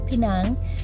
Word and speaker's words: Penang: This is our first time exploring Georgetown, Penang, and Penang is actually the correct pronunciation for Penang.